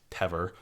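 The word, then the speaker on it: Temair: for people listening that teor in Old Irish it's spelled t e m a i r m being a lited m in in Modern Irish you would you would write MH to to represent that that V sound that I'm making so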